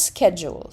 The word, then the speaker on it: schedule: all right so here American one is schedule schedule it is SC jeel jeel it's not duel or not duel schedule schedule that's how you do it all right next